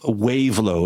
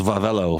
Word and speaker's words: Wavelo: We learned that the bikes branded under the name, it looks like Wavelo. It's pronounced Vavelo for some reason, but it looks like Wavelo to me.